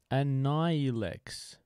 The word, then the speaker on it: Annihilex: See, what I should do, Annihilex. The H is silent.